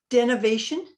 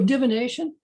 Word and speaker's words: divination: to say this correctly what is the definition of denovation oh divination okay spell it for me